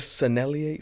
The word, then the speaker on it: Sennelier: pastels and how much is blending out with sennelier see I said it right this time anyways